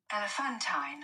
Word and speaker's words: elephantine: like an elephant elephanttine but no elephantine elephantine elephantine the stress is on the th in here in there